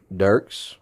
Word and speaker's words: Dirks: And 2 kids, Dirks. That's right, not Dirt, like some people say. Right. Dirks. Dirks.